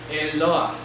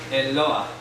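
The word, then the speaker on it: Eloah: los cielos es la palabra hebrea eloa el loa se pronuncia así el loa Qué es palabra genérica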